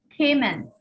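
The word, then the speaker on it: caiman: How to pronounce C-A-I-M-A-N? Cayman.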